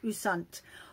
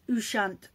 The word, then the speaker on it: Ouessant: So I do know that it's originates from Brittany, a little island off the coast of Brittany called Ouessant, or it can be pronounced Ouessant.